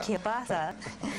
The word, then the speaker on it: kielbasa: We have beef, we have pork, we have bacon, veal, and of course Polish kielbasa. Kielbasa. If I pronounce correctly.